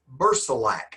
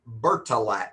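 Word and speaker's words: Bercilak: And his name is Bersilac. And I'll spell that for you. Ber c I l a k. Bilac. Some textbooks call him Berilac with a t. B E R T I L A K.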